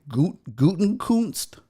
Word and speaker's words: Gutenkunst: kutzt is that how you say his name guten kunst yes brian gutenkunst um apparently it all went